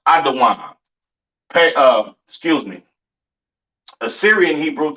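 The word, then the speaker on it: אדום: Caucasian man woman and child pronounced adaan uh excuse me Assyrian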